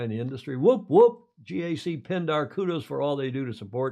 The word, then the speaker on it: GAC: video honoring Andrew pindar GAC or gak as a lot of us call it GAC pindar and Gordon